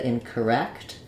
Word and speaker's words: incorrect: the C sound so same idea incorrect um our stress falls on the wrecked syllable which means our c is just going to be short with a very reduced vowel for words like these